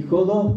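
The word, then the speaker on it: ὁδός: Y jodos, perdonen la expresión, pues se pronuncia así porque tiene espíritu áspero el griego, quiere decir camino.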